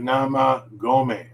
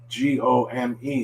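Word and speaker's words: 生米: go me again uh maybe some english speakers might want to say gum gummy or something like that uh but remember it's g-o-o is always o so to go like go to school and amy don't say me don't say go me because that means garbage and that would be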